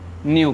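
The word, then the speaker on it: nu: ये देखने में वी की तरह होता है पर इसे हम लोग क्या कहते हैं, न्यू कहते हैं। क्लियर, तो फ्रीक्वेंसी को डिनोट न्यू से किया जाता है।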